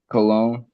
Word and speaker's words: cologne: Cologne is another word that got a silent letter in the middle. What is it? Cologne. Cologne.